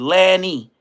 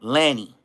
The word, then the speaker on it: Lenny: All I know his name is Lanny, like Lenny, but it's spelled. I mean, it's spelled Lenny, but they call him Lanny.